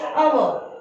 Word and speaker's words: hour: Half dash hour, यहाँ पे देखिए hour, ये h जो है साइलेंट में आता है, ठीक है।